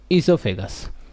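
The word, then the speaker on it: oesophagus: तो देखो हमारी जो फूड पाइप होती है, ये वाली पाइप, इस पाइप को क्या कहते हैं हम, ईसोफेगस। इसमें ओ साइलेंट है, ओ को हम नहीं पढ़ेंगे।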